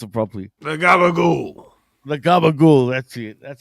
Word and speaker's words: gabagool: I can't even pronounce it properly. The gabagool.